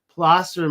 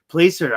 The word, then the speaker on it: placer: way to pronounce it I was wrong plaster mining Placer I say plaster plaster mining whatever anyways